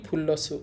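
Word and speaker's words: 플러스: এটা একচুয়ালি ইংরেজি শব্দ এটাকে আমরা বলতে পারি ফুল্লাসু ফুলসু মানে প্লাস আপনারা চাইলে লিখে নিতে পারেন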